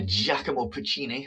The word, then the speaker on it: Giacomo Puccini: a cygnet capital of brazil is brazilian uh giacomo puccini that's how you pronounce it sean giacomo puccini wrote uh well he wrote the music for